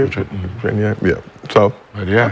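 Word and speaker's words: Chenier: Phil, what, Chania? How do you say it? Chania?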